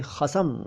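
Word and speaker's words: ख़स्म: अच्छा, एक शब्द चलता है कई बार खसम, और इसको बुरे अर्थों में यूज़ करते हैं, खसम। ठीक है ना, खसम। अगर कोई नुक्ते का ध्यान रखे तो वो खसम बोल देता है, खसम। ठीक, असल में ये शब्द है खस्म, खस्म, ख के नीचे नुक्ता, आधा स और म, खस्म।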